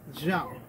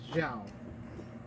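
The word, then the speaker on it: Xiao: since you all done introductions, my name is Zhao. Zhao? Yes. Like, Admiral? Zhao? Yes. It's Zhao.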